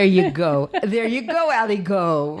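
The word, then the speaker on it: aligot: go there you go ali go right all the way all the way really really yeah aligo is spelled a i no a a-l-i-g-o-t right yeah and it's also like ali gut it gets to your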